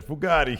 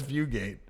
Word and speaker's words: Fugate: Ted Fugate uh yeah I pronounce his name wrong last one I said Bugatti here but it's Fugate I got a new